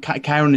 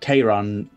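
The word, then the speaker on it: Charon: Sharon Kyra see it's not Karen is a different methodological figure altogether but Kay Ron CH AE or CH I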